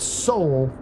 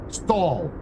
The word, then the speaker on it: Sol: It's pronounced stall. That's how we apparently say it in the Star Citizen universe. We don't say soul, we say the Sol system.